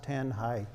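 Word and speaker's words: Tanjay: see that there's a little square box with tanh high city it is pronounced tan High it is a city of about 880,000 people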